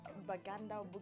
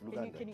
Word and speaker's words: Luganda: Can you speak the, is it Baganda? How do you say this language from Uganda? Now that you are singing Butterfly in Luganda. It's Luganda.